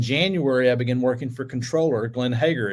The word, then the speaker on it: comptroller: and so uh so actually uh the correct pronunciation is controller and and that's the way I say it